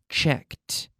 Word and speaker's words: checked: So in the past, like all verbs ending in a K, we have the T sound. Asked, asked, looked, checked. Okay, the K, we have to squeeze a T sound in there. There's no extra syllable, but we're squeezing in that T sound.